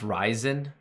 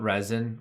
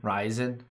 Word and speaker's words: Ryzen: Ryzen, it's pronounced Ryzen, not resin. Ryzen.